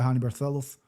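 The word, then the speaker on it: Raoni Barcelos: Easier said than done against Payton Tab, who got dogwalked by Honey Barlo.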